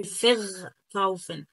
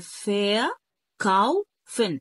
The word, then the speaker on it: verkaufen: تاني حاجة الاي ار لا تنطق حرف الآ، يعني ما تنطقش حرف الآ، ما تقولش فر كاوفن. فر كاوفن طبعا ده نطق خاطئ، ولكن هي فا كاوفن.